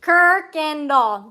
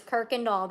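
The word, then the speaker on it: Kuykendall: know like Kirkendall something Kirkendall that's how you say that one that I typed it is Kirkendall there is no R in there but that's how we pronounce that word Kirkendall the either either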